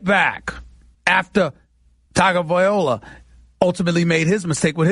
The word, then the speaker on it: Tagovailoa: Tua Tagovailoa. That is how you pronounce Tagovailoa's name. Tua Tagovailoa. That's how he pronounces his name. Tagovailoa.